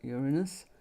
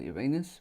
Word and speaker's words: Uranus: Okay, you are taking a leap of faith into the unknown, and the Fool is associated with the planet Uranus or Uranus, whichever way you wish to pronounce it.